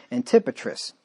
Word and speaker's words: Antipatris: to antipa uh antipatris i think this the emphasis is on the second syllable there antipatriss on the morrow they